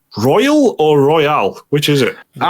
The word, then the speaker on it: Persona 5 Royal: Persona 5 Royal or Royale? Which is it? Royale. I've been pronouncing it Royale, but I do like cheeseburgers, so I don't know. I think it is Royal. Yeah, Persona 5 Royal, yeah.